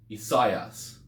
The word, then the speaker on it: Isaias: So in modern Greek, they kind of pronounce this Isaias. So they pronounce it as 3 syllables.